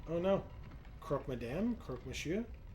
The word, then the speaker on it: Croque monsieur: Croque monsieur? Is just pronounced like croak. Like what a frog does?